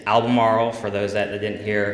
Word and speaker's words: Albemarle: In Virginia, and it's Albemarle, for those that didn't hear.